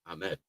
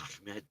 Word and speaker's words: Ahmed: We all know how to say Ahmed. We just don't say it that way. We just say it the American way, Ahmed. But if you want to say it right, it's Ahmed.